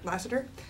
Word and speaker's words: Lasseter: I guess it's John Lasseter, is that how you say his name? Lasseter.